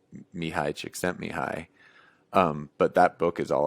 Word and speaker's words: Csikszentmihalyi: And I still haven't read that book, Flow, by, I think you pronounce his name Mihai Csikszentmihalyi.